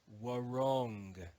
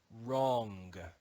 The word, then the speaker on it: wrong: read this word as war wrong in Modern English we read it as wrong the W is silent wrong we also learned about